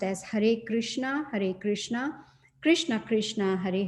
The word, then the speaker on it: Hare Krishna: And it's pronounced as Hare Krishna, Hare Krishna, Krishna Krishna, Hare Hare, Hare Rama, Hare Rama, Rama Rama, Hare Hare.